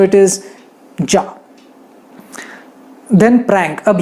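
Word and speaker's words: già: Then already, यानी मैं already यहाँ आ चुका हूँ, तो ऑलरेडी अगर आपको कहना है तो आप कहोगे जा, अरे मैं तो अभी आया, फिर भी जा, दैट इज ऑलरेडी, जा।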